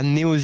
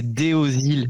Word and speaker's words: Deosil: Non, c'est pas Néoî, c'est Déosile.